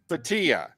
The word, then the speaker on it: Bhatia: Am I pronouncing that right? Yeah. Is it Bhatia? Bhatia? Bhatia.